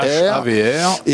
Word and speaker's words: HAVR: Havre, c'est ça? Comme la ville du Havre, mais sans le E à la fin. Sans le E. Voilà, c'est H-A-V-R. H-A-V-R. Et alors, on va tout